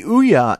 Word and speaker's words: Ouya: just totally first yes i am saying it right it does rhyme with booyah hence the title but the ouya is really everything that